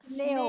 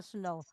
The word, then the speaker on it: sneeuw: Sneeuw. Sneeuw. Coba kita baca Sneeuw. semua sneeuw. Sneeuw. Sneeuw. Ya, ini agak sulit. Bunyi gitu ya, dikombinasi itu jarang yang bisa diucapkan seperti how. Jadi latihan. Sneeuw bukan snow.